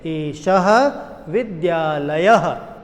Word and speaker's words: एषः विद्यालयः: जैसे यहाँ पर एष शब्द लिखा है, विद्यालय शब्द लिखा है, परंतु पीछे 2 बिंदी लगी होने की वजह से हम इसका उच्चारण करते हैं एषः विद्यालयः। अंत में अह है तो हमने अह बोला।